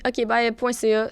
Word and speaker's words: okbye: Moi, on peut me retrouver sur Instagram ainsi que TikTok sous le nom Jessica.roux, ROUX, ainsi que ma compagnie okbye.ca. Ça se dit comme ça s'écrit.